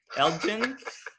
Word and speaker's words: Elgin: challenging for me to pronounce how do you pronounce that alton illinois if somebody can unmute and americans and tell us elgin what is it Joe Elgin I think Elgin